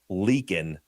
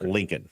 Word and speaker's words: Leakin: It's Leakin, not Lincoln. Oh, Leakin. Yeah, like a leaky faucet.